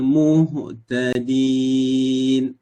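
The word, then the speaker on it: المهتدين: Wa ma ana minal muhtadin. Muhtadin, ya. Ha sifatnya adalah hamas. Kan? Ah, ih, Jadi muhtadin, muhtadin. Ini yang kita cuba bagikan perhatian.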